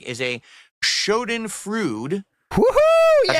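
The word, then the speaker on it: Schadenfreude: don't like is a Shen fruit wooo that's how you pronounce it I know what the word means that's Shen frud that's how you pronounce it I know what the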